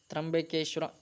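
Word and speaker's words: ತ್ರ್ಯಂಬಕೇಶ್ವರ: ಓಕೆನಾ, ಸ್ವಲ್ಪ ಉಚ್ಚಾರಣೆ ಮಿಸ್ ಆಗ್ತಾ ಇದೆ, ಅದಕ್ಕೆ ತ್ರಂಬಕೇಶ್ವರ.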